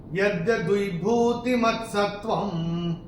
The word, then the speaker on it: यद्यद्विभूतिमत्सत्त्वं: पहले चरण में व के ऊपर अनुस्वार चरण की समाप्ति पे आ रहा है तो इसका उच्चारण केवल और केवल म ही होगा। यद्यद्विभूतिमत्सत्त्वं ऐसे करके आएगा।